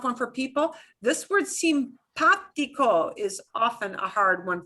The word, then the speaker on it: simpático: That little accent mark does not change the way the ah sounds. It just means you put more punch, more emphasis on the ah sound. You punch that syllable more than the other 2, okay?